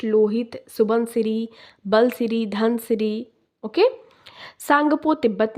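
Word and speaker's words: Tsangpo: Okay, T silent है, सांगपो river.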